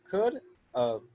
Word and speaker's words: could've: we say could and then how do we pronounce this v e well it's very simple we just say of could've could of could of and you just say fast so